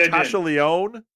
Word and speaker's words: Natasha Lyonne: Actually, Natasha Lyonne.